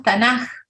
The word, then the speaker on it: Tanaj: que tuvin y decimos tanaj con como con una J al final pronunciando es acá como una J porque la k final en hebreo se pronuncia como J si entonces la adicción